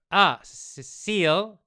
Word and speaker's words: Cecile: Cecile. My name is pronounced like in English without the E at the end.